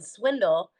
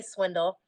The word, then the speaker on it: Swindall: ey there and then Swindle is not even though it's pronounced you know like like swindling someone that's not how it's